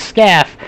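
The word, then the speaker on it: Scalf: Again, we got confirmation that the 26 is Eric Scaff. The L is silent.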